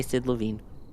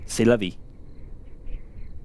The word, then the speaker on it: C'est la vie: As the French say, Sid Levine. C'est la vie. Yeah, I intentionally mispronounced it because it's supposed to be funny. Um, Well, that one landed